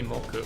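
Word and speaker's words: 木: it straight the kji for tree can be pronounced as Keith that's just one way to pronounce it let's see if it works it can also be moku take this what do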